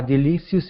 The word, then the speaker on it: delicious: There was nothing unmanly about making a delicious meal to enjoy. Oh, sorry about that. Okay, let's go to the word delicious. Instead of delicious, use a short I here. Delicious. Delicious.